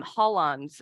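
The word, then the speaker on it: holons: conversations that everyone can handle it it's um hollons it's spelled h-o-l-o-n-s and when we think about priorities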